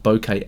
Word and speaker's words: bokeh: of our photo according to my research it's pronounced like this the right answer in japanese is bokeh but let's not get too hung up on